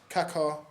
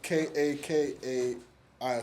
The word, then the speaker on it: Kakai: Um, we got a food from Kaka Katsu. That's in Dston Bullspane. Um, Bullspin Road. How do you spell that? But K A K A Kaka. K A K A I K.